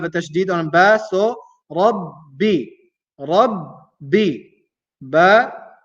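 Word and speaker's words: ربّ: So Rabbi, Rabbi. Ba is two times because of the tashdid. Rabbi. The first time is with sukun. The second time is with the vowel. Rabbi, Rabbi.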